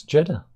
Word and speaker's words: Jeddah: Jeddah. Rhymes with cheddar.